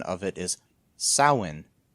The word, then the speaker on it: Samhain: pronunciation of it is sawin there's no m pronouncing it they're not saying it's